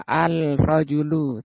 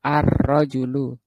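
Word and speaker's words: الرجل: Ee yang ini juga arrojulu enggak boleh dibaca alrajulu tapi masuk arrojulu.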